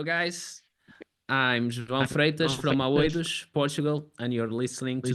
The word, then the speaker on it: Aoidos: So how do you pronounce the band name so I don't butcher it? Okay, AOIDOS.